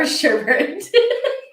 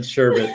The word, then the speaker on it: sherbet: say hobart or hobart sherbet or sherbert well i'm to start that today is that what we're here for there's only one rn sherbet i don't even